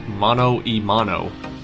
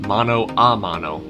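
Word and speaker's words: mano a mano: national park question 17 often pronounced mono imano that phrase is an inaccurate presentation of the spanish expression mono amano which means not man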